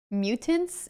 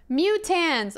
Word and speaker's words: mutans: Mutants? It's not mutants! Mutans! Oh my god, look it up. S-mutans. M-U-T-A-N-S. Mutans. Not mutants.